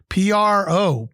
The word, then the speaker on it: propitious: Propitious, 3 syllables, propitious. It is an adjective, and it means favorably inclined or boding well.